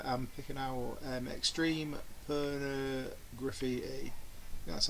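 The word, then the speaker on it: Pornograffitti: good stuff here I'm picking out um extreme por graffiti that's how you say it and um Cat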